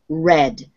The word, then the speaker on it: read: in the past participle it's pronounced red when it's in the past have read is what